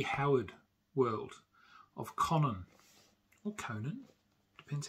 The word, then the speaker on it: Conan: And I love Conan, or Conan, however you'd like to pronounce it. I pronounce it Conan because, that's the way I do.